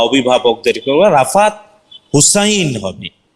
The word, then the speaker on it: হুসাইন: আম্মু বা অভিভাবকদেরকে, রাফাত হুসাইন হবে। হুসেন এই শব্দটা আরবিতে নাই, হাসান অথবা হুসাইন। ঠিক আছে ইনশাআল্লাহ। আল্লাহ তাআলা সুন্দর নাম, খুব এক্সিলেন্ট নাম, উচ্চারণটা হুসেন না হয়ে হুসাইন হবে।